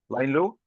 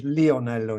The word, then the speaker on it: Lionello: Correct pronunciation is Lionello in Italian, but it is not relevant.